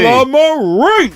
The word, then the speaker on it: Tullamarine: Tullamarine!